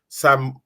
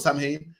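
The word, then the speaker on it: Samhain: in isar have the same thing they have a day where the dead comeb back that they believe and this day called Sam ha it's pronounced sa but it's about Sam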